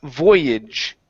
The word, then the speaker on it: voyage: let's see here uh Voyage okay so on this word here the AG g at the very end is actually pronounced as an i j voyage voyage good yeah